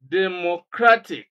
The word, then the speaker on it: democratic: you do is to break the word first into syllables Democratic and then you number them from the end 1 2 3 4 Place stress on the second syllable and that is C Democratic okay rule number seven